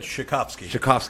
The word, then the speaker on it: Shikofsky: Shikofsky.